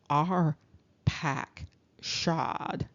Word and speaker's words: Arphaxad: you might even see it immediately that the pronunciation is our pack shod now this of course is important because when